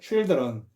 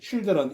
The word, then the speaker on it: children: 그래서 children 발음은 이거는 child I인데 children E로 발음하는 거죠.